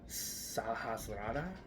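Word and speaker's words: Sahasrara: that is our Crown in Sanskrit it is pronounced sahasrada um of course it's located on the top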